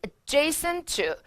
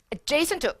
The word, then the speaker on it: adjacent: 자, 이거 발음 되게 중요한데 강세 이음절. 두 개의 충돌되는 자음일 땐 T 탈락. 우리의 귀엔 adjacent to. 어디 쪽에 인접한. 발음 다시 뭐라고요? adjacent to.